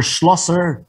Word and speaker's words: Schlosser: Schlosser, did I pronounce your family name correctly, ma'am?